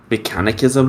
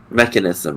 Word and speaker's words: mechanism: kind of a like mechanicism room say it correctly mechanism room no it seems more